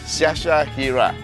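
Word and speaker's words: Syasyahiere: it's s-y-a-s-y-a-h-i-e-r-e yeah okay you're gonna break it up into three parts Sasha Hira okay welcome to the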